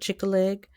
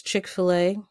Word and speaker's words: Chick-fil-A: He calls it Chick-a-leg, even though it's Chick-fil-A. For some reason, he likes to pronounce it as Chick-a-leg.